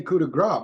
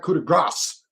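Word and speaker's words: Coup de Grâce: And yes, Michael Cole, I say cudigra because that's how it's pronounced. It's not cudigrass. Yeah. The s is silent.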